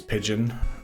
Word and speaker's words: pigeon: It was pigeon and just a T at the end. Pidgeot instead of pigeon.